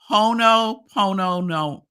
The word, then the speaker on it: Ho'oponopono: It's called, and it's one of the words that I might mess up, but Ho'oponopono, I think is how it's pronounced.